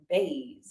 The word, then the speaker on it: Bays: Claire how do you say your last name baze baz nice and simple peace peace peace sell